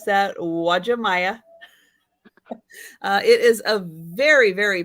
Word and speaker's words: Uwajimaya: made this name up but it is called Uwajimaya that's how you pronounce that Uwajimaya it is a very very popular store just